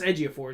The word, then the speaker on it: Ejiofor: chilled a Chewelah Ejiofor I know it's Ejiofor is his last name Ejiofor okay I'll